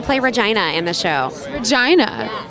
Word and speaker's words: Regina: wall and I play Regina in the show China not Regina no it's pronounced Regina she's very adamant about that so